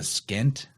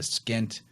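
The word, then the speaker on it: pschent: is depicted with it it's called the skint which is spelled p-s-c-h-e-n-t so it has a silent p in there the skint it combines the white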